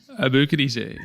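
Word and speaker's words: Aboukhadijeh: know I know how abuk DJ ah you know I know because it rhymes with DJ sounds like DJ yeah like you're booking a DJ yeah yeah you like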